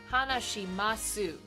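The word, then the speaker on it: 話します: Or, sorry, when they teach it to you, they would be like, Nihongo ga hanashimasu. But you don't pronounce the su at the end. Yeah, you leave it off.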